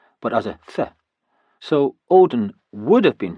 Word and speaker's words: Odin: pronounced as a D but as a so Odin would have been pronounced something like oin.